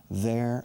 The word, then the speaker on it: their: La lengua sí se ve en este caso y se vibra sobre estos dientes. There. Como hada, dado, Madrid, there. Madrid, there. Y se pronuncia igual que la palabra allí, there.